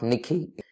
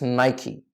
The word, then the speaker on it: Nike: not Mike it's not Mike hi it's not Nicky its Nike the correct pronunciation for this brand is 90 next thing